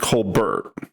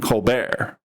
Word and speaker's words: Colbert: And Stephen, his real last name is pronounced Colbert. Okay. But his persona, it was pronounced Stephen Colbert.